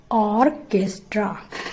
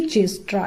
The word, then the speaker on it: orchestra: यहाँ पर इसका सही प्रोनाउंसिएशन होगा ऑर्केस्ट्रा, ना कि चेस्ट्रा। इसको चेस्ट्रा पढ़ने की गलती ना करें, ये है ऑर्केस्ट्रा।